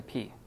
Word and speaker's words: pi: So generally, when you see this sign in math, everyone calls it a pi, but in Greek it's called a P. Just so you know. It's a P because there is no I sound in pi.